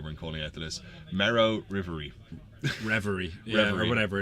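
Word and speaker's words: Marrow-Reverie: I was trying to pronounce earlier when calling out the list. Marrow Reverie.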